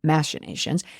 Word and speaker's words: machinations: Now, Tapper uses an alternative pronunciation, machinations, but it was the cover-up that got me.